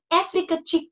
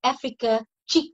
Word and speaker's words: Africa Chick: with ideas, that's how Africa Cheek Travel started. And it's spelled as A-F-R-I-Q-K-A. So it's that Africa, and chick is like C-H-I-Q. So yeah, so that's how it started. So Africa Chick Travels will actually be